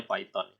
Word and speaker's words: Python: Jadi ada yang baca Python ya, kalau Anda dengar di YouTube gitu ya, ada yang bacanya Python ya. Kalau pakai bahasa Inggris ya jadinya Python.